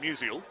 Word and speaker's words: Musial: It's like musical, but without the C. That's not a joke. What do you call it? Musical? Well, her surname is pronounced Musial, and if you Musial. Yeah, and if you put a C in between before the AL, it's musical.